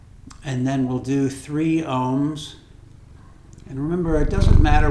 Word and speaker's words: Aum: in your sinuses and you'll hear many syllables at least three separate syllables so ohm is either spelled om or AUM and a um accentuates the different syllables and then I mean